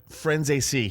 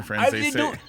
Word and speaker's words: Franzese: But like Franzese. it's okay. I was gonna say because it rhymes with Scorsese. Franzese.